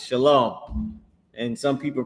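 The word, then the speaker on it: שָׁלוֹם: It's shalom. And some people pronounce it wrong and they say shalawam or whatever but they pronouncing it wrong but that's the word it's shalom.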